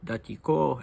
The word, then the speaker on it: Datiko: me that that uh Georgian names always put the stress mildly on the last syllable and that you would say he was called Datiko and that you would say Sandro in this instance but I don't know